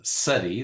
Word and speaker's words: CEDI: many uh folks uh we use the acronym SEI that's how we pronounce it s uh so I'll